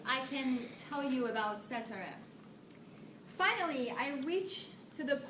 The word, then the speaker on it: Setareh: My name is Setareh. I know, it's a little bit hard for you guys to pronounce it, since I experienced it before when someone pronounced it as even Saturday.